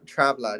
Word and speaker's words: TRAVLADD: Yeah, TRAVLADD, yeah.